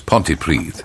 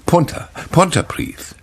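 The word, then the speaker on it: Pontypridd: these at which he mispronounces Welsh place names such as pontyprid is a general giveaway it's Punta Punta priest so if your tati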